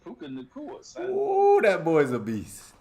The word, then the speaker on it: Puka Nacua: I say it right, Puka Nacua.